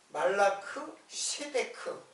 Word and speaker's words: 멜기세덱: 멜기세덱. 근데 멜기세덱이 우리 국어로 멜기세덱으로 번역했는데 실제로 발음으로는 말라크예요. 말라크 세데크.